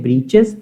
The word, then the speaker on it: breeches: ब्रीचेस होता है short pant, थोड़ी जैसे कैपरी चलती है आजकल, वो ब्रीचेस की ओरिजिनल स्पेलिंग क्या होती है? BREECHES, उसको बोलते हैं ब्रीचेस।